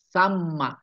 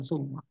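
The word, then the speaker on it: ثَمَّ: musallasah watasdidil mim almaftuhah samma ini cara bacanya bukan Summa a hunaka maka di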